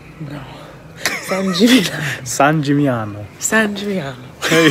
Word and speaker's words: San Gimignano: San Gimignano. No, the other G is silent. San Gimignano. No. San Gimignano.